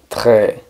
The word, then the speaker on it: très: Es un movimiento similar al de hacer gárgaras. Rrr. Très. Tard. Al principio nos puede sonar un poco exagerado o raro, pero así es como se pronuncia, entonces así debe ser.